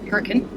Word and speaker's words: Hurricane: Yes, they pronounce it Hurricane.